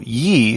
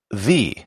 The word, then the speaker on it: ye: the words ye that y was the replacement for thorn and it was supposed to be a th sound so ye should really be pronounced the so a sign which says Ye Old shop should really be pronounced the old shop Thorn is still used